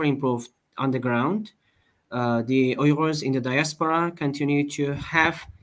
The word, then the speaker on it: Uyghur: Uyghur. Yes. The Uyghurs. Okay. Yes. English pronounce it like Uyghurs.